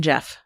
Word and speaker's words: Gef: Do you Jeff.